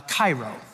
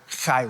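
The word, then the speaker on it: χαίρω: not just Cairo, just you kind of work up a little bit of spit and it's like Cairo. Cairo.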